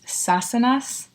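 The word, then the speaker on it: Sassenach: Now that I'm watching the show, I know how to say it. It's Sassanas.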